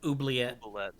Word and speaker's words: Oubliette: It's okay, I'm going to mispronounce it. How do you say that word? Oubliette.